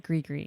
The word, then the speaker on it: Gris: Orleans, tell us what Gris means and spell it for us. It's one of my most asked questions every day here at the restaurant. But it is Gris. It's Gris.